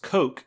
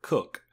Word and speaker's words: Cook: And at one point, in the film, the main character's name, Don Cook, is mispronounced Coke instead of Cook.